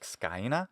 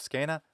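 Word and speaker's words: scaena: They could be hypercorrections, like scaina instead of scena. That's a hypercorrection. That is a mistake. It's wrong. Because it comes from Greek skene. There's no way it could be scaina.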